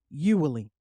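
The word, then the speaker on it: Uihlein: group supporting issue one his name is Richard ewelly and I hope I'm pronouncing that correctly it's u i h l e i n if it sounds familiar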